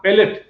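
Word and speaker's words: palate: প্লেট না প্যালেট, heart প্যালেট।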